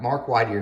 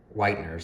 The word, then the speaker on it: Whitener: And I talked to Mark Whiteyear is the one that did this carburetor. Whitener, sorry, I keep saying his name wrong.